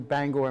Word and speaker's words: Bangor: is from Ohio to Bangor Maine and it's more or less a scavenger hunt I've always heard it pronounced Banger uh I guess I'm